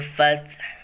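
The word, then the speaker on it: فتح: Jadi cara membacanya yang ketika diwakofkan sukuf itu terasa lunak dan huruf yang terakhir tetap bisa dirasakan, dibaca pelan. Mari kita baca bersama. Bismillahirrahmanirrahim. Idza jaa nasrullahi wal fath.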